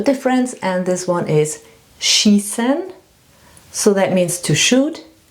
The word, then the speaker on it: schießen: And now the two words where it's really important to know the difference, and this one is schießen, so that means to shoot, and scheißen, that means to shit.